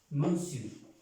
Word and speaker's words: monsieur: Algunas personas pues que apenas están o han entendido algo del francés pronuncian monsieur, no es monsieur, no es monsieur, no. Señor en francés es monsieur, monsieur. No es monsieur porque no tiene la E en ninguna parte.